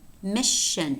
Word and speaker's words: mission: Mission. It's a sh.